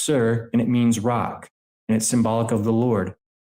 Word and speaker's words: Tyre: The capital Phoenicia, spelled Tyre, it's pronounced Sir, and it means rock.